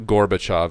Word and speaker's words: Gorbachev: Mikhail Gorbachev Mikhail cork Gorbachev and so you can look him up Geor be AC HEV is how you say it was how he pronounces or spell his last name Gorbachev and Mikhail Gorbachev